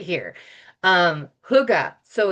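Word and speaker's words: hygge: Um huga. So it's h y ge, but it's pronounced huga and it means hug.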